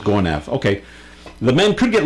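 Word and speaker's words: Gonâve: G O N A V E. Uh, pronounced Gonaf.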